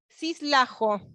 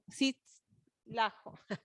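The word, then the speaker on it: Czytajlo: Natalia Stanislaw, ¿cómo se pronuncia, Mariana? ¿Cómo es? Cislajo. Ah, Cislajo. Bueno, que habla con este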